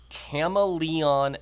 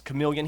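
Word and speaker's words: Chameleon FX: dyslexia kicks in it it's cama Leon FX okay and it's chameleon he even used a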